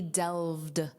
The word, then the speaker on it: delved: The study delved. Notice that pronunciation. This ed d is just pronounced as a soft d.